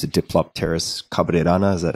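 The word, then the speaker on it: Diplopterys: Chagrupanga, which is also, I think it's a Diplopteris cabrerana. Is that how that's pronounced? Mm-hmm. Diplopteris.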